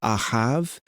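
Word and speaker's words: אהב: And if you want to remember how to say this in Hebrew, it's ahav, love, I have love.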